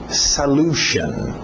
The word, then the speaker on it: solution: Cuidado com a pronúncia aqui. Solution. Okay? Solution. Geralmente esse S acaba entrando no L.